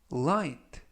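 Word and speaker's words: light: 이번 표현은 의 하이트 와이트 으 와이트 그 라고 발음 하시면 되겠구요 이때 주의하실점은 중간부분에 있는 쥐 h 는 묵음 이라서 이번 단어에서 는 발음이 되지 않습니다 품사는 형용사 뜻은 가벼운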